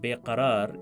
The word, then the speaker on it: beqarar: The way Lata Mangeshkar pronounces the word beqarar in the song represents the standard Urdu pronunciation. In some regional dialects, for example Hyderabadi and Punjabi Urdu, it is pronounced a little bit differently.